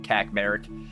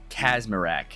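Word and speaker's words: Kacmarek: Will Kacmarak is actually Will Casmic. So, that's how I'm going to pronounce his name from now on. I apologize all the Dolphins fans who might have been hearing me call him Kac. It's Kasmarak.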